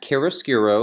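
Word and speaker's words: chiaroscuro: top that's it's pronounced Kerris giro it's an italian word and it means the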